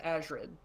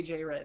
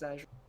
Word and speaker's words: Azred: It is pronounced Azred. I used to say AJ Red. It is Azred.